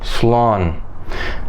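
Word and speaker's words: slán: goodbye in Irish well Stephen it's simply slump s'long okay and as for me thank you very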